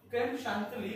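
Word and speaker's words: crème chantilly: Now creme chantilly or creme chantilly, there are two pronunciations, one is the French and one is the English. Okay, so creme chantilly is basically the English pronunciation. Some French people, they say it's creme chantilly, not chantilly. Okay, now how to make creme chantilly?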